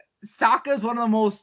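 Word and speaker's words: Sokka: that like that and the pronunciations of aang saka and they call him ong and soka like oh and um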